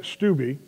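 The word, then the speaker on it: Steube: there was a representative i believe the name is pronounced greg stuby from florida he in the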